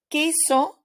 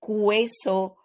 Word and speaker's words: queso: doing written exercises but in speaking the letter U is silent for example we've got queso and key in so we do not use uh we do not say cueso or cuyen those words do not exist so the U is